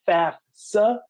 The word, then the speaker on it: FAFSA: Pronunciation is important, so it is known as the FAFSA because you're able to see it's the free application, F-A-F, for federal student aid.